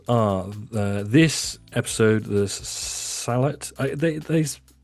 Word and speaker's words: Sehlat: I swear we've always pronounced it seat on this channel. Well you are wrong.